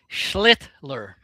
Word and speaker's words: Schlittler: Schlittler. I'm going to be say it very slowly. Schlittler.